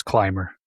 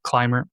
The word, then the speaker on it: Clymer: I'm pretty sure it's Clymer, right?